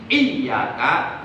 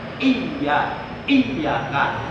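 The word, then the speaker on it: إِيَّاكَ: bidang membaca Quran, itu huruf iya yang bertasdid mesti dibaca taskil. Artinya dibaca berat. Artinya baca tekan. Iyyaka.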